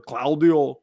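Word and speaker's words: Claudio: Cloud Claio Cladio have to say it like Schwarzenegger. Cloudio.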